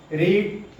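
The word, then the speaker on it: read: translation Ram will have रीड रीड की तीनों form same रहती है स्पेलिंग इन स्पेलिंग लेकिन प्रोनाउंस इ रीड रेड रेड Ram will have rot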